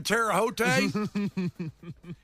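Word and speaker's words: Terre Haute: Am I saying that right? Terote case. Yes, that's how you say it.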